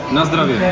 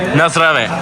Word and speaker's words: nazdravie: How do you say cheers? Nazdravie. Nazdravie. Nazdravie എന്നാണ് കേട്ടോ ഇവർ പറയുന്നത്.